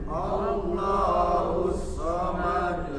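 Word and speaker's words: اللَّهُ الصَّمَدُ: harus Terlihat pantulannya tapi bukan dibaca allahus somomad tapi allahusamad ya paham ya huruf Shad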